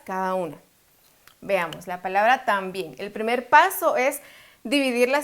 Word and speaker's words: también: sílabas lleva la fuerza cuál de estas dos en la sílaba tónica tan o bien es también si entonces la fuerza lleva